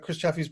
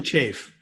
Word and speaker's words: Chaffee: But again, I thought it was really interesting about Chris Chaffee's presentation was that some degree of I hope I'm pronouncing your last name right, Chris. It's actually Chafe.